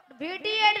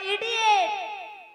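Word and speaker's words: idiot: ভিডিয়েট নয়, বলো ইডিয়েট।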